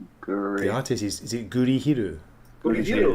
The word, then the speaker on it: Gurihiru: Gurihiru. Pronounce the name.